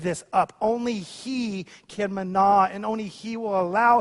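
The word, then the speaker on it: manna: deeper than just that this is the Hebrew word mana mana we actually we we we tend to pronounce it as Mana like in the story of Exodus it's the same word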